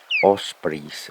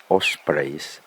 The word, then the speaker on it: osprey: And at first sight, I would think that it could be a bald eagle, but they say that ospreys, or as British say, ospreys, nest here.